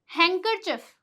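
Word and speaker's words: handkerchief: ये क्या होता है हैंकर चफ हैंकर चफ कई लोग हैंकर चफ बोलते हैं जो कि गलत होता है यहां पे डी क्या है साइलेंट है हैंकर चफ जैसे कि आप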